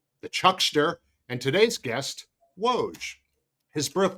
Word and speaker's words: Woj: But anyway, the world knows you as Woge. Everyone knows you as Woge and that has never been mispronounced.